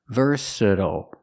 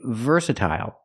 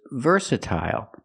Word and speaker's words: versatile: but some people say versatile versatile the primary stress is on the first syllable but we have a secondary stress on the third syllable so it's versatile versatile and what does